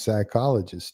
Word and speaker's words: psychologist: like you could use psychologist too and she was like why would you use psychologist I was like because the p is silent she's a sweet yeah